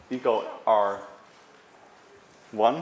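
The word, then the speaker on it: EcoRI: enzymes one is called Eco r one or I we say one in when you pronounce it but it's actually an capital I so and you can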